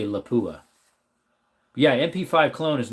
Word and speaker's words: Lapua: Some people say Laoola and some people say Laapua. I say Laoola.